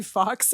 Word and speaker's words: Fawkes: So if you look up Fox f a w kes like the uh bird from the Harry Potter movies.